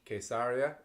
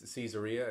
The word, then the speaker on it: Caesarea: I mean, even I visited a small area called Caesarea in the Hebrew pronunciation, or Caesarea in English, which is on the